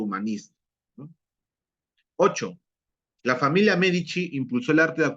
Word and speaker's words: Medici: Florencia profesor pero dice medicis ah no pero se pronuncia michis es Florencia en en italiano la c y la i se pronuncia chi pero se escribe c i mientras que algo paradójico